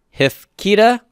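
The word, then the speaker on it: הִפְקִידָה: Hif keeda, where's my accent? It's on the Kyrick yod, so hif keeda. So I need an accent mark there because it's not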